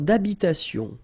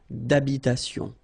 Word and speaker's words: d'habitation: Une tour d'habitation. Remember, H doesn't exist in French, well, in most of the cases, so it does mean that you don't pronounce it, all right? So, d'habitation.